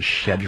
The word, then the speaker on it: schedule: in a wood chipper I'm so glad you said schedle schedle that's how they say it that's when you know